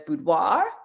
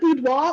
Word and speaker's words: boudoir: a photographer that does boudoir did i say that correctly um you can pronounce it boudoir or boudoir i mean i think it's like the french word is like with no r okay um and so